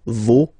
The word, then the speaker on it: vos: pronounce the final s, vos, you don't pronounce it, leur. Okay, so if we see that one more time, it's me, te, se, and then nos, vos, leur.